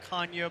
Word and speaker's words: Canha: He started to explain to us the Portuguese heritage, and it's really Canha, but since we've been in America, our kids have been raised this way. His wife came out and said it's Canha, and that's it.